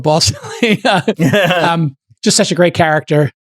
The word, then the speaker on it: Balsillie: I think it's Balsillie, but people, as a joke throughout the movie, people keep mispronouncing it Balsillie, which he does not like. Balsillie, yes, yeah. So I'm going to go with Balsillie.